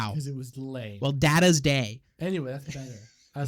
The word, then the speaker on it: Data: Data's Day. Data's Day.